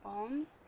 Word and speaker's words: Om: From there, you're able to chant a few Oms. So I'll just quickly go through that. So Om consists of three syllables, the A, O, and So you want to make sure that the ratio is 2:4.